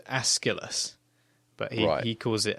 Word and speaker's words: Aeschylus: And I believe it's pronounced Aeschylus, but he calls it Acilius.